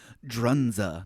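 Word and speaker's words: Dzundza: It's a German name. Drunza. That's how you say it.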